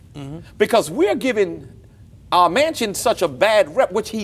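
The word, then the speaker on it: Manchin: needed this needs to be blown up and manchester is that how you say his name mansion okay thank you because i don't try to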